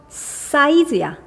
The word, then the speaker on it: emphasize: PH는 F 소리 내서 밑에 거는 emphasize야. size, S.